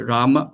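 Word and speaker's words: Rāma: also another thing rama so no don't say ramo Mo right uh there's a Bengali you know they pronounce as o uh but unless you're a Bengali yourself I mean it's okay to say ramo if not don't imitate Bengali pronunciation when chant right just say rama not ramo like when one seen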